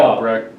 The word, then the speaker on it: Albrecht: was Albright, or Yeah, Albrecht. yeah. Did you say Albright? Is that how you Albright is the way they pronounce pronounced it, it?